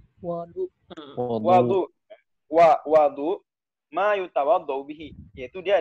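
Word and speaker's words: وَضوء: Wa bi fathiha, adapun kalau wawnya fathah, berarti gimana bacanya? Wau fathah itu gimana? Wadu.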